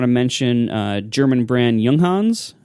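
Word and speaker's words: Junghans: I also want to mention uh German brand yunghans spelled jungin they they make an this wonderful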